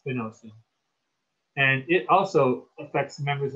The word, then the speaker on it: spinosad: like spinosad but um i think the correct pronunciation actually is spinosum and it also affects